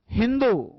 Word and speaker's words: हिंदू: फारसी लोग अपनी भाषा में स का उच्चारण करते थे, है। स को क्या बोलते थे बेटा? है। सिंधु को उन्होंने क्या बोला बेटा? हिंदू।